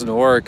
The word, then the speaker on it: Newark: you go oh yeah the way you pronounce an orc is just uh it has to be like i don't know it has to be fast right when i first came here i kept saying newark they're like oh norg